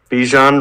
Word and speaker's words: Bijan: said at the beginning Bichon rhymes with Parmesan and he's about to